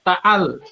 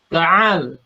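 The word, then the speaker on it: تعال: Membedakan antara huruf ain dan huruf hamzah. Jangan dibaca ta'al ya, tapi ta'al.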